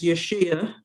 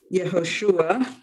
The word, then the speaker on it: Yehoshua: His family always pronounced his Hebrew name really in Yiddish, so it came out as Yeshua, which is really Yehoshua, ben Yaakov.